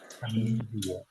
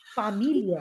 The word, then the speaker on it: Familie: I in German, whenever I comes, I is pronounced as E. E. E. Familia. So familiar. Familiar.